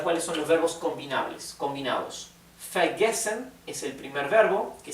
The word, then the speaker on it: vergesse: Ich vergesse immer. Acá tenemos una doble S. Recuerden que la doble S en alemán se pronuncia como una S suave.